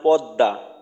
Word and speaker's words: পদ্মা: করেন আমরা ওই বলি নদীর নাম পদ্মা দ দিয়ে বলি দুইটা দ কিন্তু লেখার ক্ষেত্রে কিন্তু ম ফালা দিয়ে লেখা হয় তো ম ফালাটা